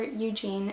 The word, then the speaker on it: Eugene: pronunciation, but that is Eugenie Onegin by Alexander Pushkin, or Eugene as we would Americanize it.